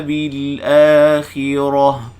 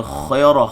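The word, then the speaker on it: بالآخرة: Ad-dunya bil akhirah. Bil dua harakat mad badal. Bil akhi, jangan baca khairah, khair. Bil akhirah, ra bil akhirah, rah.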